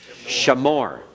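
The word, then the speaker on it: שָׁמוֹר: Shamor. Okay, you have that sh in there. Shamor. The accent's still on the last part.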